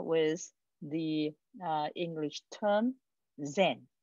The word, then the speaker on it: Zen: the uh english term zen right z en and that is the english that is the japanese pronunciation of the chinese character chan okay and probably the